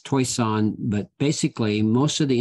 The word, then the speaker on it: Toishan: I always get criticized by the way I pronounce taishan and it's toisan but basically most of the individuals who came